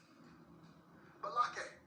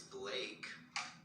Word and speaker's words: Blake: Balake. Where is Balake at? No Balake here today. Yes, sir. My name is Blake.